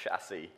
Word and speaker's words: chassis: I love the French so much, we should say the word properly because it's pronounced chassis.